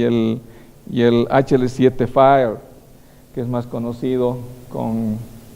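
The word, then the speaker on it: FHIR: el hl7 efe h&r o sea no es fire pero se dice fire y se escribe efe h&r por eso que hay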